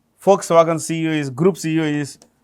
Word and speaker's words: Volkswagen: It's um owned by a comp company called Folkswagen. Folks wagon. It's pronounced with an F. V is pronounced with an F.